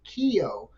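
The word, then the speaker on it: Keogh: for essentially professionals self-employed called a Keo k-e-o-g-h I believe it was a uh Cajun senator from Louisiana the French yeah that's where the pronunciation comes from and Dean I haven't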